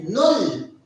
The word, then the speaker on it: null: We say null. In German, we pronounce it as null.